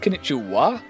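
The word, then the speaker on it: こんにちは: some of the hiragana, where konnichiwa, it's pronounced konnichiwa, but I believe it has the characters for bar at the end of it, which is weird.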